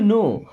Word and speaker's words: know: okay how डू यू नो हाउ मीस होता है कैसे डू हेल्पिंग वर्ब है यू मीस आप नो अब इस वर्ड में दोस्तों के साइलेंट होता है के को नहीं पढ़ते है ना हाउ डू यू